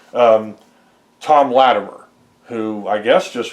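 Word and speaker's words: Thom: British kind of character, so I've got a character named Tom Grimes. Okay? But it's spelled T-H-O-M, like Tom Latimer. So you'd have to catch that, inference. Otherwise, he's just some guy named Tom Grimes.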